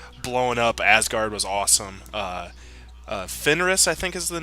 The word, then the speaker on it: Fenris: Fenris, I think, is the name of the wolf.